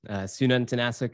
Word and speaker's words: Sununtnasuk: Sununtnasuk is how you pronounce the last name, but is totally fine.